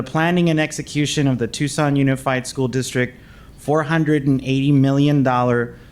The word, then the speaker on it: Tucson: If I was telling people that I didn't even know how to pronounce Tucson, I was like Tuxen. And I was like, what about Tuxen?